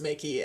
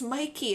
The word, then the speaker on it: Mickey: When you throw that C in there, it becomes Mickey, and I thought so, yeah. But I accidentally misspoke a student's name once, and they're like, it's Mikey, and I'm like, it's spelled like Mickey Mouse in my head.